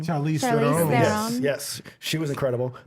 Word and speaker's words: Charlize Theron: I always forget how to pronounce her last name. Charlize Charlize Theron.